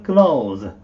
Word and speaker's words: clothes: change my clothes jammy こっちのクローズの発音なんですけどもこれ cloth だけでテーブルクロスなんてのクローズなんですけれどもそれの複数形なので髪はえっクロック路を伏せず黒苦労ウィーズとって皆さん言いたくなるんだけどもはい実はこれオープンクローズ開ける閉めるのクローズと同じ発音で ok ですなりティーチャー言わず